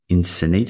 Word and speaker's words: Encinitas: this happen it's great to be here in Encinitas is that how you pronounce it that's it North County San Diego